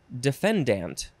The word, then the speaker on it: defendant: I guess it says in legal circles it is often pronounced defendant I think it's more damp than Dent defendant defendant it is